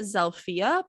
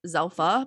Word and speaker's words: Zilpha: is they pronounced it zalia but it's spelled z i l p ha so it kind of looks like zelfa but they call it zalia so okay sounds like